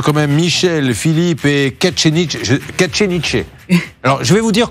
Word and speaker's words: Kacheniche: K-A-C-T-H-E-I-2-N-I-J-E, et ça se prononce... Kacheniche.